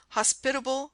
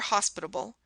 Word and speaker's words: hospitable: mispronounced many words herself hospitable for hospitable intense for intense Etc the errors consisted chiefly in changing the accented syllable in the word mination